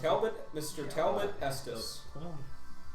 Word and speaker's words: Talbot: Is that how you pronounce Talbot, Mr. Talbot Estes. it? Talbot.